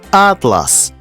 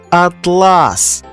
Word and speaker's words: атлас: отримаємо смачну цукерку ірис він називається атлас але з наголосом на другий склад він перетворюється на блискучу і гладеньку шовкову тканину атлас наше серце Та взагалі